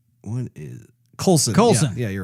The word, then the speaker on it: Coulson: a little CG-ish on what's his name, Agent Paulson? What's his name? What is Coulson? Coulson.